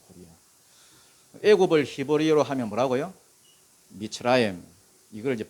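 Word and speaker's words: מצרים: 이 미스라임이라는 것은 이게 히브리어입니다. 애굽을 가리킬 때 미츠라임 이렇게 부르는 거예요. 미츠라임. 우리나라도 외국 사람이 우리나라를 이렇게 부르면 대한민국 안 그러잖아요. 코리아 하잖아요. 코리아. 애굽을 히브리어로 하면 뭐라고요? 미츠라임.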